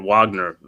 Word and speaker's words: Wagner: you had it right Wagner Wagner there you go Wagner yeah they pronounce it Wagner because they French I mean they German Wagner Wagner right the